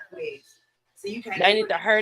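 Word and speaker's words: Hermès: Well, you, a lot of them can't even fucking pronounce it because it's Hermes. They be like, I want one of them Hermes Birkin bags. No, baby, it's Hermes.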